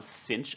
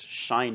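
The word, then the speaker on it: sinh: similarly we have a hyperbolic sine function i pronounce this one cinch of tea though others may pronounce it shine of t and this function is identical to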